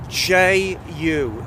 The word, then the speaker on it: Rieju: Rieju.